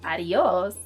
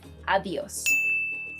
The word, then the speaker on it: adiós: are often mispronounced is, if you're thinking that the pronunciation is adios, I'm sorry, but no. You should say adios. So instead of adios, adios. So the D is sort of harder.